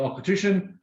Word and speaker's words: Auchentoshan: That is the Auchentoshan. It's spelt nowhere like it sounds, but this is now a single malt from Glasgow.